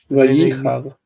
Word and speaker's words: ויחר: Vayichar. The accent is on the E.